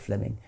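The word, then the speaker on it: Fleeming: true so Fleming Jenkin was simply it's written Fleming but is pronounced Fleming um Fleming Jenkin was simply saying manifest facts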